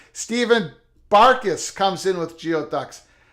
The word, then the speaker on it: geoducks: barcus comes in with geoducks pronounce gooey Ducks oh I'm sorry gooey ducks I don't pronounce any